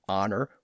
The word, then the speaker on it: honor: Several decades earlier, John Hart had transcribed the word honor without an H on most occasions, reflecting the traditional French pronunciation of the word with a silent H.